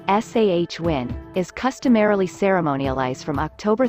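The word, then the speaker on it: Samhain: day and age sawwin a Gaelic word pronounced sah win is customarily ceremonialized from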